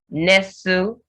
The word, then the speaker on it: nestle: Then castle, nestle, you have the T silent in STLE.